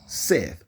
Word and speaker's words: Seth: with a man called Seth or set right s e t h you can pronounce it and say it whichever way set or Seth all right and Noah